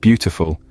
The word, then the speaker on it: beautiful: For example, in the word beautiful, the first syllable is stressed.